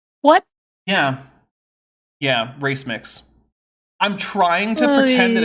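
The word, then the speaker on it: racemic: merury is but I recently heard him mispronounced rimic which is when you have uh a mixture of things like amino acids that have relatively even amounts of uh left and right-handed amino acids as race mix what yeah yeah race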